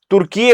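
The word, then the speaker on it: Türkiye: तुर्की है। टर्की नहीं है अब वह तुर्कीए हो चुका है। इंग्लिश में टर्की लिखते थे। बट अब उन्होंने उसकी स्पेलिंग भी चेंज कर दी है। क्योंकि इस टर्की का प्रोनन्सिएशन होता था तुर्की है। लेकिन हर कोई टर्की ही बोल रहा था।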